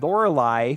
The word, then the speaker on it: Lorelei: that's that's where the quest kind of bended Lorelei which apparently is how you pronounce it said that we need to go